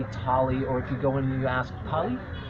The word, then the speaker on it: thali: It's spelled T-H-A-L-I. You don't really say Thali, it's Thali.